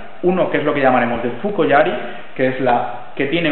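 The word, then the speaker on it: 槍: De hecho, la forma yari tiene dos pronunciaciones: la pronunciación kunyomi, que es yari, como estamos diciendo, que es la pronunciación japonesa, y la forma de pronunciación china, que es so.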